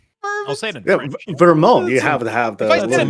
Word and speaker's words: Vermont: You had problems pronouncing the word Vermont today. What? Really? Wow. Verment.